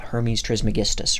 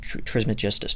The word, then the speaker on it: Hermes Trismegistus: Thrice Grace Hermes yeah Hermes trismegistus or charismatistus depending on who is pronouncing it who's basically this